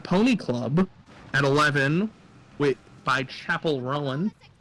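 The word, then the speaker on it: Chappell Roan: Currently climbing is Pink Pony Club at 11 by Chapel Rowan. Gotta mispronounce her name like some straight person, you know? Chappelle Rowan.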